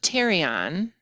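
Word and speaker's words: pterion: the right and left teron this the p is silent that is the junction where the parietal the temporals and the sphenoid bone all meet I remember terion because it's near our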